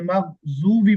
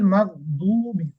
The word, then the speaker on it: مغضوب: আমরা কি পড়ি, গায়রিল মাগজুবি পড়ি, অনেকে পড়ি না, মাগজুবি, জুবি, এটা কিন্তু ভুল উচ্চারণ, খেয়াল রাখতে হবে। গায়রিল মাগদুবি, দ, দ, মাগদুবি, গায়রিল মাগদুবি আলাইহিম, মাগদুবি,